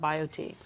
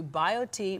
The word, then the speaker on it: BioTE: get the right thing done tell us about bio tea so what bio tea does is we look